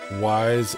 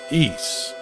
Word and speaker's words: Ys: Always pronounced it wise as a kid. Yeah, me too. Until until you play the game on TurboGrafx and you hear them tell you, Ys, the ideal utopia.